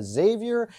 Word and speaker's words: Xavier: From Flora, we have Jillian, Kendra, Xavier, and Gabriel. Or it's Xavier, right? Pronounce the X. You pronounce the X. It's very important.